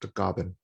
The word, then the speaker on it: Tagaban: And my last name is Tagaban. In the Philippines is pronounced Tagaban.